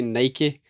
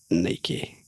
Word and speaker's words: Nike: do you pronounce Nike or Nike? Nike is pronounced Nike, so like double E Nike. rhymes with spiky.